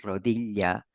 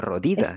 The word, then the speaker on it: rodilla: palabra, cuando pronunciabas la palabra rodilla, para mis oídos sonaba como si estuvieras diciendo rodida.